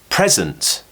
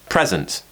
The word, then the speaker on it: present: replaces the letter e present so the stress is on prep we finished with sunt present this one's a little